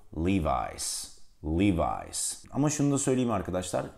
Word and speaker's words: Levi's: var O yüzden bunu araştırdım Aslında iki farklı telaffuz eğilimleri oluyor birisi Lewis gerisi Levi's bu markanın doğru telaffuzu Levi's Levi's Ama şunu söyleyeyim arkadaşlar Türkiye'de ben şuna